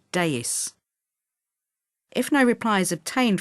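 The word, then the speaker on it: DAAIS: pronounced dax or a danger area activity information service pronounced deus if no reply is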